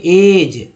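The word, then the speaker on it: edge: करना है, बचा जो एन और जी का उच्चारण करना। तो इसे क्या पढ़ेंगे, ब्रिज, ब्रिज ना कि ब्रिज, इसे पढ़ेंगे एज, एज नहीं पढ़ेंगे एज।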